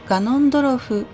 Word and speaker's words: Ganondorf: Voici comment l'écrire et le prononcer, Ganon, ou bien dans sa version humanoïde, comme ils disent, Ganondorf.